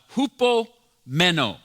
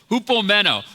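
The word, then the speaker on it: ὑπομένω: in the original language you actually say it like this you say it uh hoop meno just try it out come on just try it it's a cool word to say hoop meno hoop basic basically means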